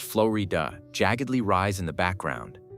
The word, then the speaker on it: Florida: The Florida mountains, pronounced flowy dua, jaggedly rise in the background.